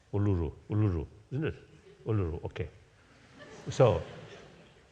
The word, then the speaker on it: Uluru: Just day before yesterday, I met the indigenous people around Kasa, the Uluru or something, Kasa Uluru. Difficult to pronounce. Uluru, isn't it?